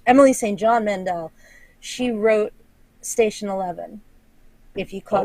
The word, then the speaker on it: Emily St. John Mandel: I also just finished a couple of Emily St. Mandel. Am I saying it wrong? No, it's Emily St. John Mandel.